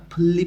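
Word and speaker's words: 분리: এর মাধ্যমে আমরা আজকে শিখব স্রেগি আবর্জনা, ফুল্লি ফেসুল, ফুল্লি অর্থ আলাদা করা, ফেসুল অর্থ ফেলাই, যে নিউনের পর রিউল আছে এই জন্য দুইটাই লয় ল উচ্চারণ হবে।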